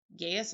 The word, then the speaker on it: Gaius: Julius Caesar, Marcus Brutus, Gaius Cassius Longus. Gaius Longus? Seriously? Cameron whispered. I think it's pronounced Gaius, moron, I heard Amanda Shockey say.